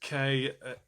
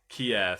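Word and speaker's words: Kir: It's pronounced Kier. Is it Kier? Kia Royale. Well, it's spelled K I R, but okay. Kier, thank you for that, Sarah.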